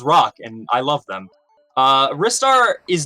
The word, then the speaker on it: Ristar: Or is it Ristar? Well, officially, if you are in Japan, it is Ristar.